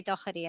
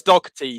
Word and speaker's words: Dougherty: to be pronounced because i used to say dokhari and then i found out that it might not be but anyway well the irish hot spot says dog tea so well there you